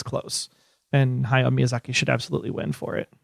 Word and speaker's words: Hayao Miyazaki: And Hayao Miyazaki should absolutely win for it. How do you say that again? Hayao Miyazaki.